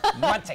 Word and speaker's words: Muncie: Yeah, Muncie.